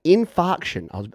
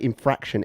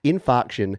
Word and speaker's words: Infarction: what is that in i always pronounce it wrongly infarction i i almost say infraction every time infarction featuring the one and